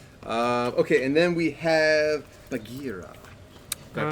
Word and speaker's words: Bagheera: Okay, and then we have Bagheera. Did I pronounce that correctly?